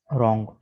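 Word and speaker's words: wrong: इसके बाद रॉन्ग, रॉन्ग का माना होता है गलत। ठीक है, रॉन्ग आंसर, गलत जवाब। ठीक है, W साइलेंट है।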